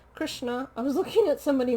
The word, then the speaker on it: Krishna: I liked Krishnu's in this. Krishnu? Who the fuck's Krishnu? Krishna.